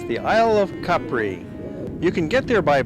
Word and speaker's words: Capri: the aisle of CPR by the way the pronunciation of the island does vary a little bit Americans tend to call it Capri Italians call it Capri which is the original and more correct way